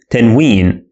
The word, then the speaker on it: tanween: This is called tanween. And it is pronounced as a consonant na sound.